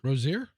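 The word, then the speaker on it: Rozier: Like this this Rosier, how do you say his name? Rosier.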